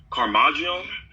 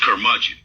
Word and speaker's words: Curmudgeon: Is it Carmagion? It's Curmudgeon. Curmudgeon, okay.